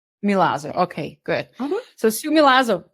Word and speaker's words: Milazzo: Last name is Milazo. Milazo.